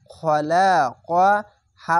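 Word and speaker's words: خَلَقَهُ: খ যাবার খ, লাম যাবার লা, খলা, কব যাবার ক, খলা ক, হা উল্টা পেশ হু, খলাকাহু। খ, এই মোটা অক্ষর আকার উচ্চারণ হবে না।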